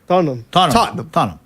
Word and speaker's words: Tottenham: Tottenham. And the H is kind of silent.